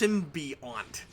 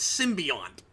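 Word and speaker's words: symbiont: It's symbiant. They put an N in it. Oh, really? It's weird. And consistently it's symbiant.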